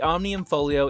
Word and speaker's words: Omnium Folio: The Omnium Folio is the added player power, that unlocks over